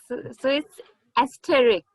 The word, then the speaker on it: asterisk: not a lot of difference. The a phonetic is coming in both the places.